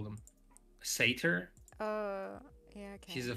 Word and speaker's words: satyr: He's a unicorn centaur, satyr, cyclops. Satyr sounds so weird. Is that how you pronounce it? I don't know how else you'd pronounce it. So it must be. It's in Greek. It's satyros. Satyr.